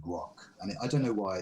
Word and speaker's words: Grokk: And then later I found out that if you just change the spelling slightly, but it's the same pronunciation, grok means to comprehend or to understand something.